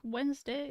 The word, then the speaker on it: Wednesday: like Wednesday is PR is pronounced still makes me irrationally angry why is there a d there when it's not pronounced that's because originally it